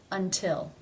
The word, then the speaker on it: until: is beginning a stressed syllable therefore it is pronounced as the Realty until until let's compare these two words in one